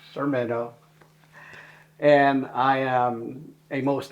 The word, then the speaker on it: Sermeno: to meet them hi my name is sermeno pronounced sermeno and I am a